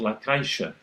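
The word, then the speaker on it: La Caixa: there and it's called Lacisha and the letter X is pronounced surprise surprise sh the target English sound which apparently doesn't exist in Spanish.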